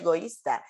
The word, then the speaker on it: egoísta: They're egoísta. That's how you say it, okay, egoísta.